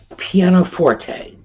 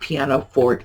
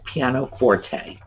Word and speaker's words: pianoforte: Pianoforte. And that is how it is pronounced. It is not pianoforte, it is pianoforte.